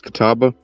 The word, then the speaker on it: Catawba: No, it's Catawba. Spell that for me, please.